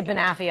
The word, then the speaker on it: banoffee: could go both ways you could say you say benafia I say banoffee okay perfect it's explain